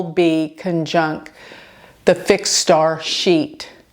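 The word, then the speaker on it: Scheat: conjunct the fixed Star sheet and sheet is spelled s c h e a it is the fix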